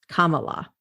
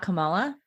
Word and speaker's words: Kamala: And she said herself that the easiest way for people to remember how to say her name is the word comma, like the pause in grammar, comma, la. Kamala. It's not Kamala? No, it is not.